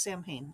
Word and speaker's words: Samhain: Angela James, started out running Carina Press, came over from Sam Hain Books, which they did pronounce Sam Hain. I asked the owner once.